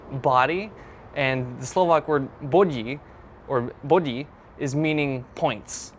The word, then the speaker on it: body: So the singular form is bod. Maybe not pronouncing it the best, but like bod, something like that. And plural would be bodji. So it sounds like the English word body, but it's not meaning body.